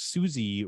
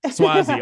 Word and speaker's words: Suozzi: But the Santos Susie race, and I apologize if I'm mispronouncing that gentleman's name. Swazi. Okay, thank you. Swazi. Okay, well, thank you. That I had a feeling as I was saying that I was probably saying that incorrectly, so I appreciate that.